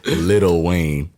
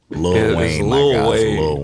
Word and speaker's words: Lil Wayne: we make fun of him for his proper pronunciation again no no you want us he said little Wayne Lil Wayne Wayne who's not in Hollywood in me he's